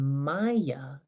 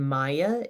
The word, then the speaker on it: māyā: Now, Maha we know is great, and Maya is the way it's spelled, long A, M long A, Y long A.